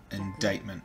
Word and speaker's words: indictment: hacking activity unilateral internment indictment yeah because the C is silent for some reason not